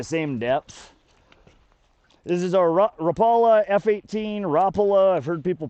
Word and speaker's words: Rapala: This is our Rapala F-18 Rapola. I've heard people pronounce it nine billion different ways.